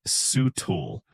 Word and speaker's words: subtle: Of course, let's start with subtle. It's spelled with a sneaky silent B, but you pronounce it sutul.